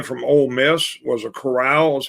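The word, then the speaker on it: Corral: it's the guy from ole miss was a chorale is how you pronounce it um and again i think he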